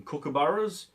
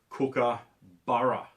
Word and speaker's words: kookaburra: going to play some kookaburras um that's a bird they're going to do the laughing song you know we're pretty renowned for them and we pronounce it over here cooker burra and i've heard on